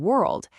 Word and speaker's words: world: When the letter O is followed by an R, it often changes its sound completely. In words like work, word, and world, it creates this sound. It's the same sound you hear in bird or turn.